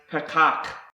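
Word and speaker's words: פָּתַח: another word that's starts with the letter p's pronounce Patak and this means to open wide springing open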